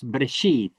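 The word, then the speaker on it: בראשית: I would say in the beginning in Aramaic is brashith, but in Hebrew it's breshith, breshith. Very short, breshith instead of brashith in Aramaic.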